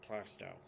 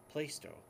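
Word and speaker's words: Plaistow: we have a town in New Hampshire called plasto it's spelled pol a is T o W a lot of people from the outside think it's pronounced placed o which is wrong and then there's Worcester Massachusetts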